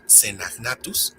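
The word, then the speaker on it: Caenagnathus: Si dijiste Cenagnatus, estás en lo correcto. Otra regla de pronunciación le atañe a la CH.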